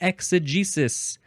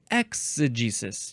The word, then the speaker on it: exegesis: We have the word exegesis or exegesis. You can emphasize the first syllable more if you want.